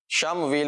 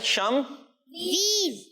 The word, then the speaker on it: شمویل: جی شم ویل. ماشاء اللہ، صحیح تلفظ، صحیح ادائیگی. کیا ہے؟ شم ویل. شین اور میم اور واو یا اور لام.